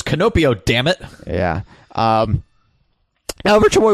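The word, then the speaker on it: キノピオ: Yeah, Koopal, and yeah, like the in the Japanese canon, it's pronounced like this, and you're saying it wrong, you stupid white bastard. It's not Toad, it's Canopio.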